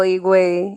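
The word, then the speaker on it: Higüey: I don't know how you pronounce that. Higuey. oh, Igwe.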